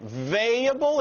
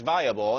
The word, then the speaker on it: viable: here at attack of the show all right valuable is that how it's pronounced valuable it's it's it's viable i think